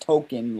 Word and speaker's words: Token: years later, they shine a light on what his name is actually, because it's supposed to be more like pronounced token, like Tolkien, the guy that created the author that created Lord of the Rings.